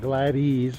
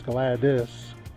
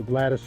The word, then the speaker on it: Gladys: corrected me and said it's not glad ease but it's glad this and that woman's spell that name GL ad Wyatt dys so Gladys it is a little